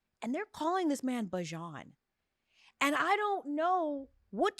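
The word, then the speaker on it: Bijan: who named him that his name is actually bajon what bajon and here's where this gets really interesting he calls himself be yeah remixed it remixed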